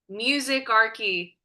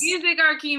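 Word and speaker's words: Musicarchy: and artist management company music Ary did I say it right it's perfect yes music Archy media okay like monarchy but music I love that yeah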